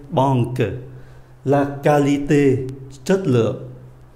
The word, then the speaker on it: qualité: QU cũng đọc là cờ luôn. La banque, giống như là C, banque. La qualité, chất lượng.